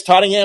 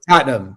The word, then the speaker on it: Tottenham: are Premier League football fans and I guess tottingham is that your team totam totam whatever Tottenham Tottenham Tottenham okay yeah tottingham they haven't been